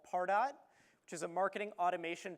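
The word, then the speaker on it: Pardot: thought it was pronounced far dot when you first heard it all right how about pardo all right that's the more sophisticated way to say it right it's like target RJ I'm waiting for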